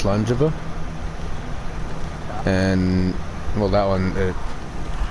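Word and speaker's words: Slàinte mhath: And then slange slangejiva that's a slate maybas that you see at the end it's pronounced slangejiva and well that one it says itself cheers.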